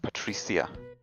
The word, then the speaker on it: Patricia: realized I was mispronouncing it in French it's pronounced Patricia so like Ace rather than sh in the